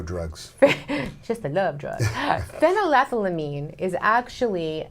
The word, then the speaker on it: phenylethylamine: I can't pronounce it, Serotonin? but I'm going to try. No, it's phenylethylamine.